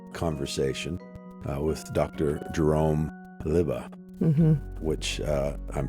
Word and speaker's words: Lubbe: uh 2hour M conversation uh with Dr Jerome liba which uh I'm pronouncing correctly it's spelled l Ube e but it's liba and you might catch a little bit of